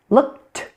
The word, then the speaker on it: looked: Looked, looked. Did you hear it again? It's a T.